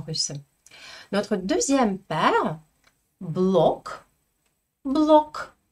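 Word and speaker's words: блог: Je prononce exactement la même chose dans les deux cas. Je ne peux pas dire en russe en ge final. Non. En russe, tous les mots vont se terminer par k, même si à l'écrit,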